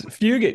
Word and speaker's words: Fuggit: I'm going to say it wrong, Fuggit? Yes, Fuggit. Yeah, you got very close.